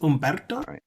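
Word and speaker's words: Humberto: names that are close my name is Umberto but people have trouble pronouncing this because of the H in English will throw you off and then like yesterday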